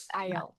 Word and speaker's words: IELTS: Uh IELTS. How do you say it? Yeah. I IELTS. IELTS.